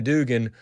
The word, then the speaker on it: Dugan: Judge Hannah Dugan was that judge in, it was Wisconsin. That's the proper pronunciation in case you're keeping score at home.